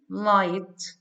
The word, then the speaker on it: light: I, when you see IGH, it's pronounced I. For example, light, fight, high.